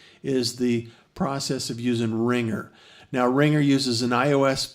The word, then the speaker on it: RingR: to iTunes App Store look for ringer and it's spelled r-i-n-g-r and it's uh able